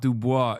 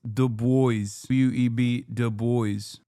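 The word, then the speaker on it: Du Bois: No, it's not Dubois. It's DOB Dboy.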